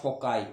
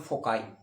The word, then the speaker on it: foci: फोकाई मतलब कोई इसको फोसाई बोलता है, कोई इसको फोकाई बोलता है, राइट। आपको जो प्रोनाउंसिएशन, अमेरिकन में इसको फोसाई बोलते हैं या फोकाई बोलते हैं, कोई इसको फोकी बोलता है, कोई इसको फोसी बोलता है, राइट। लेकिन अमेरिकन लैंग्वेज में इसको बोलते हैं फोकाई, राइट।